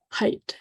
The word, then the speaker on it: height: And so if you can get them to the point where they recognize the E-I-G-H as one grapheme, pronounced as the long height, pronounced as a long I sound, that can help them